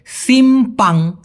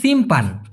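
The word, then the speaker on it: simpang: Malaysian ভাষায় বলা হয় সিম্পাং জ্বালান কি বলেছি ভাই সিম্পাং আরেকটা হচ্ছে সিমপান সিমপান সিমপান কিন্তু না এটা হল সিমপাং সিমপাং জ্বালান অনেকে সিমপাং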